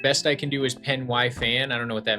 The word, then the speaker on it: Pen y Fan: Oh, it's pronounced penny fan.